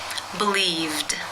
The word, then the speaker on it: believed: you pronounce this word the infinitive form to believe ends in the v consonant sound which is voiced therefore it is again case two where the e d is pronounced as the D sound believed how do you pronounce